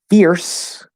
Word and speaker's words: fierce: you have to listen fierce spelled with a c and we know that c can represent the s sound the e is silent at the end but that is actually an s sound so the only difference